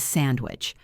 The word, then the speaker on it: sandwich: One more example is sandwich. We often say sandwich. The N turns into an M because of the W sound, which uses lips.